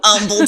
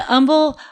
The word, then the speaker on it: Humble: But people are like, you went to Humble High School, or why don't they call it Humble High School? Because like they don't pronounce the H's. Yeah, the H is silent.